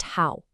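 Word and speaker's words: 好: And the second character is how pronounced how. This just means good, fine, or well. And you'll notice it's also a third tone. It has that same falling rising shape.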